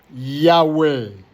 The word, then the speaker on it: Yahweh: même nom de famille, Yahweh. Voilà, c'est comme ça. C'est comme ça qu'il faut prononcer notre nom de famille. Comme un souffle de vie, comme notre respiration humaine, vivante, sur terre.